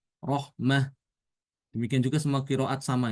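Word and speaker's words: رحمة: Kalau tanya ditulis dengan tamar butoh seperti ini, maka ketika wakaf dibaca dengan hak. Rohmah.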